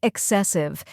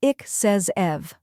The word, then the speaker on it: excessive: The correct pronunciation is ik-says-ev. Let's break it down. First we have ik, which sounds like ick in sick or quick. Next is ses, which rhymes with mess and carries the main stress. Finally, iv, which sounds like the IV in give or live.